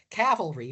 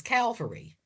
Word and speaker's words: cavalry: into the Civil War mispronounce the word cavalry is Calvary. Cavalry because we're a Latin word for horse, cabalis, and Calvary comes from the Latin for skull.